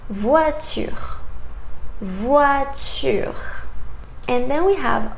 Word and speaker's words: voiture: And then we have O, I together. In French, sounds wa. For example, voiture.